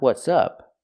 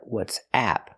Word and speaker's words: WhatsApp: going on what's happening but the app is called what's app we need the ass sound like black cat let's practice I don't